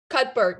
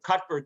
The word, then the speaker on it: Cuthbert: you call it cutport cutbert yeah cut yeah so you don't pronounce the th you pronounce it so yeah i think